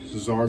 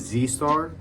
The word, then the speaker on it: Czar: doesn't say Czar Global, it says Z Star, which a lot of people even pronounce my brand like that. It doesn't really bother me because I think eventually, like, I'm gonna get big enough where people gonna know it's Czar, but like, it actually